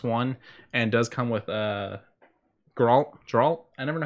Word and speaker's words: Geralt: released for Xbox One and does come with Geralt. I never know how to say his name. Geralt.